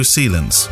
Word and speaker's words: Shillum: If Kevin is reading this, which he isn't, you say my name, the surname is like Sealing, but with an ends instead of an ing. For, just think of NATO, but with an extra N. Sealants.